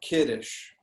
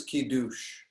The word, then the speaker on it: kiddush: um um like kiddish like the word kiddush is like if we were to read that word it's ki douche right but the e in ashkenazic pronunciation the e becomes it the u becomes uh the accent goes in a different place so just you know